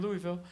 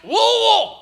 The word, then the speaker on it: Louisville: I'm like, hey, it's so good to be here in Louisville. I had 400 people immediately. It's pronounced Wool.